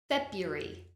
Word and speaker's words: February: help you here because many people look at this word and say February however listen to me and repeat February February well done another word